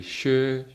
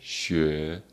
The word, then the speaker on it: 学: So it is actually 学, 学. Second sound, right? 学, 学, the car going upstairs.